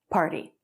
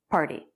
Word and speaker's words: party: the same political beliefs party with a flap t party party when you register to